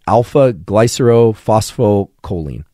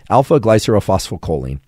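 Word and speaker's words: alpha-glycerylphosphorylcholine: And I'm going to attempt to pronounce what alpha-GPC actually is. It's alpha-glycerophospholipid, right? Alpha-GPC. Alpha-glycerophospholipid.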